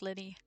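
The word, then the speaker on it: Lyney: Oh yeah, it's pronounced Linny.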